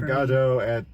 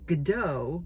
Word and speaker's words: Godot: yeah um Waiting for God at catastrophic which is another interesting thing because it's usually pronounced gdau waiting for gdau um and they they emphasize that it's God so that you have